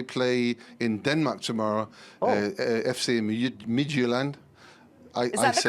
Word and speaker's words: Midtjylland: They play in Denmark tomorrow, FC Midtjylland. Is that the correct pronunciation? No, I was trying to do an English version of that. How do you say it then? Yeah, Midtjylland.